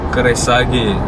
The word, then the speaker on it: Kreissäge: Standard Keresage. Ha, that's how you pronounce it.